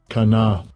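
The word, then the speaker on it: קנא: Let's get the pronunciation first. Strong's H 7065. Kana.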